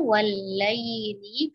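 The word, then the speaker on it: والليل: Nah, di sini ada huruf lin, ya, ya sukun sebelumnya ada harokat fathah. Ya, fokus membacanya adalah i, ya, jangan miring. Wal lail, ya, tajamkan i-nya. Wal laili, kemudian iza huruf hamzah harus ditahqiq, diperjelas, ya, i.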